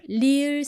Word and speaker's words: 리을: It's the 리을 sound. Earlier I explained it's somewhere between R and L sounds.